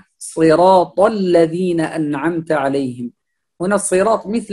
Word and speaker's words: الذين: يقول الذين أنعمت عليهم، هذا حرف زاي ليس ذال، فنقول صراط الذين، الذين الذال يخرج من هنا، نخرج اللسان قليلا فيأتي لنا الذال، نقول الذين، الذين من طرف اللسان مع أطراف الثنايا العليا، هنا نراعي مخرج الذال، لا الذال هنا ليس زاي، الذال حرف له مخرج وله صفة، يعني يختلف عن الزاي كثيرا، فنقول الذين، واللام هنا